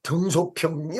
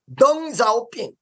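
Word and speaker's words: 邓小平: 옛날에 이 이름을 들었을 때 등소평이 어떻게 돼요? 한문을 그대로 한국말로 한국 발음으로 읽은 거야. 근데 중국말로 읽으면 덩자오핑 이렇게 됩니다.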